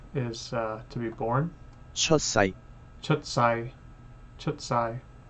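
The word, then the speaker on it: 出世: Chutsai. Chutsai. Is it a long A or a short A for world? I guess that's Sai. Sai, so it is short. It's not Sai, it's Sai, Chutsai.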